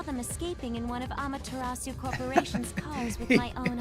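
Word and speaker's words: Amaterasu: reasoning is somewhat lacking I mean how how they're pronouncing it is is fine it's kind of the American way of doing it but I will say that it should be amasu amasu amasu but whatever Shadow R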